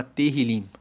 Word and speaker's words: Tehillim: O livro de Salmos, no hebraico, na Bíblia original, se chama Tehillim. Se escreve T-E-H-I-L-I-M e Tehillim significa louvores.